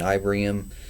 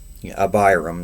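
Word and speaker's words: Abiram: And Moses sent to call Dayan and Ibraham. Abraham, however you say that. Abram, there you go.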